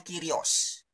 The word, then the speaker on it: kyrios: hanya satu arti kyrios tulisannya kurios bacanya kyrios ya Hai tetapi ketika